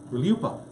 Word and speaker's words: RLUIPA: RLUIPA. It's like Rihanna, but RLUIPA.